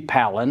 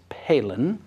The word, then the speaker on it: Palin: would think p a i n would be palen I mean that's the way most rednecks would pronounce it and I certainly was inclined to do the same thing but now we all know it's Palin now what's the truth about her and about